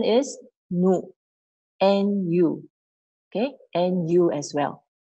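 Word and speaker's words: ぬ: Okay, the hiragana pronunciation is nu, nu, okay?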